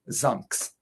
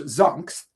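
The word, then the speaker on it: Xunx: There's also Carl's son who goes by the name of Zunks, Xu NX, which is supposed to be unpronouncable because Carl, though he's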